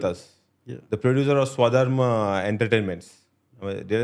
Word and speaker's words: Swadharm: The producer of Swadharma Entertainments.